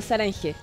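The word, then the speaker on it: 사랑해: amor o algo así sarange Sara sarani saran es como se escribe como sarane pero es como hay unas letras medias silenciosas entre medio pero es como sarange sarange sarange sarange me gustó ya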